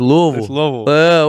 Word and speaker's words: Louisville: everybody Louisville you're going to Louisville no it's Louisville that's that's how you know natives that's how